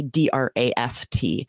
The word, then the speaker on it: draught: In American English, we often will spell this phonetically, D-R-A-F-T. But in British English, they keep that spelling D-R-A-U-G-H-T. But I think we adjust it sometimes to keep ourselves from being confused because it looks more like it would be pronounced draft.